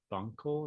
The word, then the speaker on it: Bunkle: He had two sons, James Stewart and then John Stewart of Bunkle.